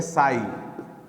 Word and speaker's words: psi: गौर से देखो, देखो जी, यहाँ पे सबसे पहले साई, इसको हम लोग PSI लिखते हैं बट साई पढ़ते हैं, प्रोनाउंसिएशन इसका साई होता है।